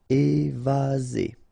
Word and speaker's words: évasé: Remember, one S between two vowels. Z. Évasé.